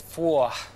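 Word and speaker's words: phwoah: How would you pronounce that? I think it's four.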